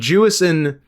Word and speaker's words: Jewison: And Jewison didn't emphasis first syllable.